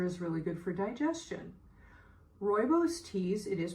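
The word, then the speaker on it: rooibos: liver and Ginger is really good for digestion royos teas it is pronounced royos are naturally caffeine-free and they all have anti-inflammatory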